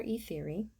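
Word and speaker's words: Ethyri: named i named her e theory and yes i did spell it right um again pronounce theory t-h-e-o-r-y but spelled e-t-h-y-r-i uh also short for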